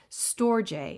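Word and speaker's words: storge: the english bible becomes love another word is storjay s-t-o-r-g-e that word stands for family love so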